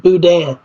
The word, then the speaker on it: boudin: Well, I don't know that I'm the expert in how to pronounce it, but I thought it was like boudin. like Steely, try to make it rhyme with Steely Dan.